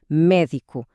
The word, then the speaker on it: médico: Ou médico. A força está no mé.